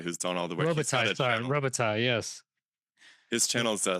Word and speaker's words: Robitaille: Rubier? How do you say? Sorry, that's Pierre-Marie Robitaille, who's done all the work. Robitaille, sorry, Robitaille, yes.